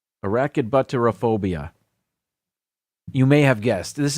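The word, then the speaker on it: arachibutyrophobia: I think I can pronounce this because I have it spelled phonetically over here. Arachidbutterophobia. Arachidbutterophobia.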